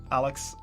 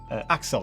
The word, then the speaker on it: Axel: videos thanks a lot alex axel sorry said your name wrong you did a super chat and i said your name wrong so axel of course thanks glad you like